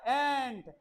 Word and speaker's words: ant: अगर आप इसे आंट कहोगे तो ये आपकी चाची हो जाएगी। ओके, इट इज एंट। क्या है ये? एंट। देखो, जो आंट होता है ना बेटा, आंट, उसकी स्पेलिंग अलग होती है। स्पेलिंग होती है, वो होती है AUNT। ये होता है आंट, ये एंट।